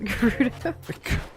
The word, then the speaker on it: Gerudo: Weirdo sounds like it rhymes with Gerudo.